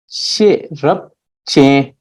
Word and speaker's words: Sherab Jian: Sherab Jian. Three syllable. Sherab Jian. She, which represents knowledge, which is the short form of the word sheja, knowledge.